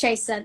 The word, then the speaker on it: Chasa: So it's Chasa. That's what it is. That's what I tell everybody.